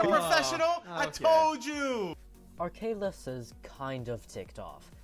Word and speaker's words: Arcalis: I mean, Arcalius is just wrong, isn't it? Where is an I in the after the L? It's not Arcalius, okay guys?